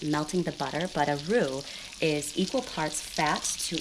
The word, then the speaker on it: roux: In the meantime, we're going to get started on our roux, which I'm going to explain what a roux is in just a moment.